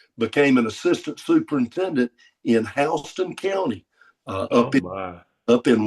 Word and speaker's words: Houston: know, Cairo is spelled Cairo, and Houston is Houston, and it's a regional pronunciation, and don't you dare get it wrong.